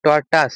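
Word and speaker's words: tortuous: টরটাস এটা উচ্চারণ হবে এটা উচ্চারণ হবে টরটাস আর এখানে টরট রাস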